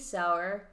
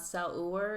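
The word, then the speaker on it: Saur: My Venmo is at Sour. Sour is spelled S-A-U-R. It's not Sauer. It's not Sawyer. No one can get my name right. What's wrong with y'all? But it's like sauerkraut.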